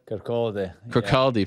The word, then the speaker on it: Kirkcaldy: I was trying to, did I pronounce Kirkcaldy Fife? Kirkcaldy Fife.